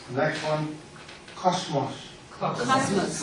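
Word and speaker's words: κόσμος: A lot of people pronounce it cosmos. It's not cosmos. I know in English, cosmology is how we translate it. Cosmology, study the world, but in Greek, cosmos. Cosmos. Not a Z, it's a sigma.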